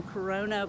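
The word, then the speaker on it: Coronea: was called coronia and it's spelled c-o-r-o-n-e-a so corona but with an e and i don't know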